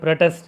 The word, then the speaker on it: protest: For instance, the word protest is there. Protest as the stress on first syllable as a noun and on second syllable as a verb.